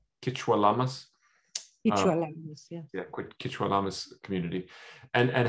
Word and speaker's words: Quechua Lamas: was raised, as well as the indigenous community, Kichwa Lamas. Am I saying it right? Kichwa Lamas? Kichwa Lamas community.